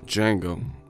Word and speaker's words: Django: Django. We've been whipping these streams. And the D is silent.